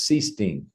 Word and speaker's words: Sichting: The easiest way that that I've always done is I say it rhymes with beast sting. Get stung by a bee and so it's seing.